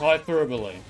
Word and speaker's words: hyperbole: I I like it it's like a weird situation where like I thought it was pronounced hyperbole, you know, which it is.